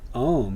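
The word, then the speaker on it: ॐ: into its constituent elements om is the transcription which is both correct and which corresponds to the actual pronunciation as it exists in india as well as in tibet and in mongolia this detail alone allows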